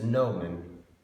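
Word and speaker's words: gnomon: So this nomen, spelled like this, by the way. If you want to look it up in Google. Nomen, something like that. That's wrong spelling, but it goes with the GN.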